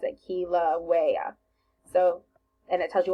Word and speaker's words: Kilauea: this one this word this is how you pronounce it Kilauea so and it tells you what page it's